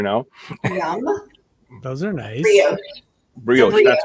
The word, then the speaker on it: brioche: Brioche.